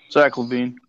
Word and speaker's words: Zach LaVine: Zach LaVine.